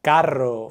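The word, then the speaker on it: carro: when we have an r at the beginning of a word or when it's doubled in the middle of a word or when the r is placed after n l or S here are some examples rata for rat Caro for car Sona for smile so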